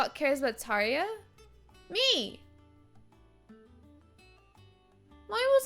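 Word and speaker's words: Tarja: oh I know it's did I say Tarsha yeah I know it's Taria I don't know why I was saying it wrong um I would like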